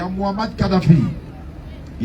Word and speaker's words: Mohammad: dire il n'a qu' répéter après faut dire Mohammad tu laisses passer le vent Mohammad il va prononcer il y en a qui dit non